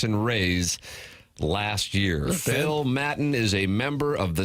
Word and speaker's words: Maton: Phil, we have looked up the pronunciation, and we have come to the conclusion that is Maton. Maton, M-A-T-O-N.